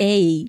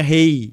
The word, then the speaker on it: Hey: Ei. Ei, não é rei.